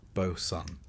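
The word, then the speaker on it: boatswain: Back on deck, you'll meet the Bosson or Bosen, pronounced Boson because sailors like to keep you guessing.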